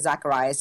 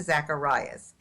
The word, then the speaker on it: Zackhariyas: but it's my first and last name Zacharias is my Instagram ok and I'm just gonna spell it for everybody it's a za ck h AI r I why ASO it's Zacharias and yeah that's great I think my website